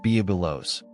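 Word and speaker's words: Byblos: On Lebanon's coast, where waves meet old stone, stands Biblos, pronounced Bubilos, one of the oldest ports.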